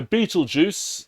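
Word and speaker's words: Betelgeuse: relatively speaking um so Beetle Juice that is how you pronounce that is an example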